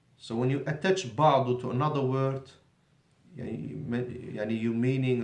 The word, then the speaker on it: بعض: What's the difference between بعض with a dot, strong, and بعد, soft, دال. بعض بعد. Okay. Not only there is a difference in pronunciation, and this is very clear to the Arabs. The Arabs will not get confused. They distinguish clearly between the dad and the dal.